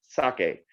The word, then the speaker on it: sake: it's pronounced merlot but we say that french word very easily merlot not merlot but if you look at the spelling it's like merlot so if we can say merlot we can definitely say sake so please help me teach the rest of the planet excuse me how to say this four letter word which is sake all right if you